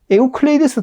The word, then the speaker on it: 에우클레이데스: 여러분이 알고 있는 에우클레이데스 들어본 적 있습니까? 아니요. 처음 들어볼 겁니다. 유클리드는 들어봤죠? 유클리드. 기하학의. 예. 유클리드는 영어식 발음이고, 그걸 따지고 원론을 하면 그렇게 됩니다, 아까.